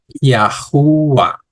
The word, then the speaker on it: Yahuah: es que nosotros decimos que su nombre es yahua que es el nombre de nuestro creador recuérdense